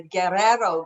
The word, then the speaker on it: Guerrero: that correctly it's the guerrero gold belt for those of you who are anglicized and for those of you who speak spanish they've taught me to roll my r's it's the guerrero gold belt and so that's where